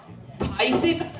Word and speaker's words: phthisis: It's so absurd Madam, even more confusing is the word phthisis P, H, T, H, I, S, I, S What’s the point of having those silent P and H before the word?